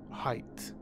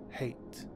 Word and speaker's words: Hayt: it pate I think this one surprised me the most because I always used to pronounce it as height I believe the word is based on high yet because Hyatt in Arabic means life and this ties into Duncan Idaho going back to life hence the name Hyatt so I would pronounce it Hyatt but Frontera pronounces it hate the man Palmer ended